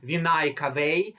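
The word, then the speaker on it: venae cavae: for the oxygenated pickup now here I want to stop and talk about pronunciation you see we say Superior and inferior vinay Cafe because it is plural we're talking about two veins but when we talk about one vein such as superior vena cava pronunciation is different you see the plural is vinayakave and the singular is or we can say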